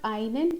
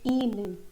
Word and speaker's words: Ihnen: Yeah, it's not Einen, it's Ihnen. This I has to be pronounced as E, Ihnen. And if you have to